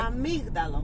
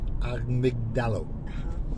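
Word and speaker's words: αμύγδαλο: Amygdalo. Amygdalo. So it's a bit like drizzling Deborah.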